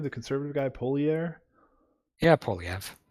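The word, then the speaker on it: Poilievre: The conservative guy, Yeah, Polyev. Poliev.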